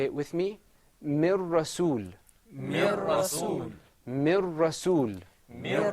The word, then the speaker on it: من رسول: This is pronounced with idgham. Mir rasul. Say it with me. Mir rasul.